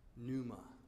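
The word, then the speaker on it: pneuma: into us the Greek word for spirit is Numa P Neu m a numa it means the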